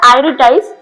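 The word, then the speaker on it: iritis: এই প্রোনাউন্সিয়েশনটা হচ্ছে আইরিটাইস।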